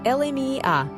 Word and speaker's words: Elemiah: Name, Elemiah, pronounced Elemiah.